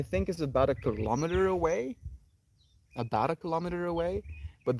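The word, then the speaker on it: awe: and it's interesting because it's spelled a w e ah the way we say the a ah and then w e way not we our way so thank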